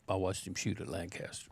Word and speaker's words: Lancaster: of those boys and every time I say it Lancaster they always say no it's Lancaster yeah they gave me